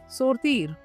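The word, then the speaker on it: sortir: सोरतीर, सोरतीर। Okay, सोरतीर। टू गो आउट को हम French में क्या बोलेंगे? सोरतीर। इस पूरे फ्रेज को क्या बोलेंगे हम? सोरतीर अवेक देजामी, सोरतीर अवेक देजामी।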